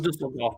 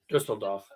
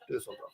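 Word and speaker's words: Düsseldorf: People call them Dusseldorf, but the actual German pronunciation is Dusseldorf. Dusseldorf.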